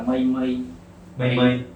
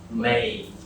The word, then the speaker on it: May: Anh hay đọc là mây. Thì nó gọi là mây mà hồi tối nghe nó lạ lắm. Gọi là mây đâu mà May. Không phải là mây nghe nặng như tiếng Việt mà Đúng là nghe May.